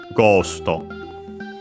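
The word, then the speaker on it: ゴースト: Should be accented also on the, yeah, on the first syllable is expected, so ghosto.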